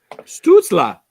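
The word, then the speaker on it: Stützle: Stutzla. There you go. That's what Steve said. He wrote it out phonetically.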